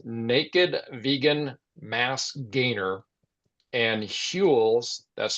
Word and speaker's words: Huel: in Naked Nutrition's Naked Vegan Mass Gainer and Huel's, that's spelled Huel apostrophe S, Black Edition protein powders.